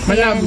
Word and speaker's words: Manabu: Kung ano man kung ano man siya manabo daw. Manabo ang bigkas.